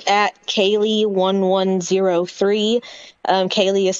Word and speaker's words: Kaleigh: Kaylee is spelled KALEIGH 1103.